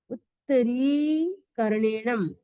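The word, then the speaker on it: उत्तरीकरणेणं: उत्तरी री बड़ा है। उत्तरीकरणेनम। उत्तरीकरणेनम।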